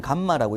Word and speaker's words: 감마: 자, 그러면 이 비중량은 사용되는 기호를 여기 R처럼 쓰는데 실제로 읽을 때는 감마라고 읽고요. 근데 저는 수업할 때 보통 뭐 R 이렇게 많이 쓰는데 일단 감마가 맞습니다.